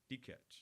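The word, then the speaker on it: Dikeç: How do you say that? D-check? D-catch.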